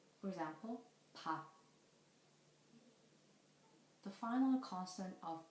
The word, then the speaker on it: 밥: When 피읍 and 피읍 become the final consonants, the syllables end with the sound of p. For example, 밥.